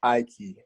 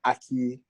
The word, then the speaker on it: Aiki: the meaning behind it it's ikey i key that's your i then a key for a door it's not a key it's not a key